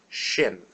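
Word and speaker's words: ש: is re re Street Shin Shin it's just like an English sh sh sha and our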